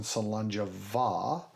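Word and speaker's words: Slàinte mhath: So when we say cheers at the end of every episode, we say cheers in Salanja Va. The Va in that word is spelled MHATH. The TH doesn't sound like th, and the MH doesn't sound like mah.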